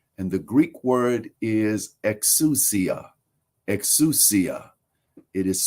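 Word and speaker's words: ἐξουσία: And the Greek word is exousia. Exousia. It is spelled in our alphabet, it is spelled EXOUSIA.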